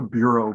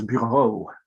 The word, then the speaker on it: Bureau: eduard and ail but you would pronounce the name as buau not Bureau which we would Anze in Philadelphia and the bureau Foundry